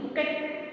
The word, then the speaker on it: bouquet: Bouquet, B-O-U-U-U-E-T, bouquet. Actually it is bouquet, and but here T we are not pronouncing bouquet, we are saying B-O-U-U-U-E-T.